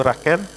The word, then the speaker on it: Raquel: Sœur Emmanuel, Bernadette, Anissa, Stéphanie, Hermina, Ildefonse, Monique Blas, Marie-Thérèse, Raquel, je ne sais pas si c'est Raquel ou Raquel, mais je prononce en italien Raquel, Raymond Savavolko, Marie Dago, etc.